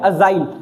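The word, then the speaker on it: agile: अजाइल। ठीक है, अजाइल है। ठीक है, याद कैसे करेंगे इस वर्ड को? इसका मीनिंग क्या होता है? फुर्तीला। क्या होता है? फुर्तीला। काफी बच्चे इसको एजिल पढ़ते हैं।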